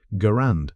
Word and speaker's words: Garand: Why did Germans hate the American M1 Garand or Grand if you want to start a fight in the comments? The man who designed the rifle pronounced it Garand, so that's what we're going with.